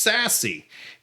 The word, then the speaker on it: SASE: in short order that that acronym is pronounced sassy and i think this